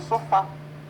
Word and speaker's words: sofá: Por exemplo, sofá. Eu tenho sofá e não sofá. Eu falo café e não cafe.